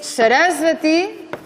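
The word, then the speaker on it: सरस्वती: Por tanto, es Arjuna, Arjuna y no Arjuna. Arjuna. Es Asana y no Asana. Es Sarasvati y no Sarasvati, es Parvati y no Parvati, ¿vale? Es Arjuna, es Asana, Sarasvati, es Mandala, no Mandala. Entonces ya veis que hay una tendencia a acentuar en la tercera sílaba.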